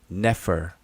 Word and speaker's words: nfr: out these words out put an e in between all the consonants and we pronounce it as the schah E like e the like